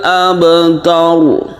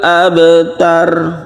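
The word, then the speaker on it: أَبْتَرُ: Huwal abtar. Jadi jangan sampai biasa saja wanhar, huwal abtar. Jadi itu tipis ya. Jangan ditipiskan tapi ditebalkan.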